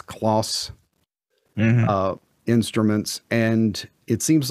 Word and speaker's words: Kloss: But it's spelled K-L-O-S. I believe it's Kloss.